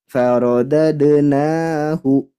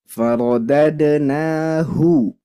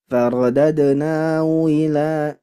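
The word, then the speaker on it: فرددناه: Faradadnahu. Seperti itu. Lanjut, di sini ada huruf H. Nah, huruf H ini rentan sekali untuk diseret atau digeser. Makanya harus jelas pelafalannya. Faradadnahu. Tidak boleh faradadnahu ila tapi hu.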